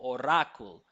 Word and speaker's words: oracle: It seems like they're stressing the second syllable, oracle, right? So Yeah. we would say or, right? First syllable stress or. But the key thing that they could use to identify that is that we don't pronounce that second syllable clearly.